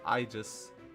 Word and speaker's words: Aegis: aegis is a shield aegis is pronounced i just and is a joke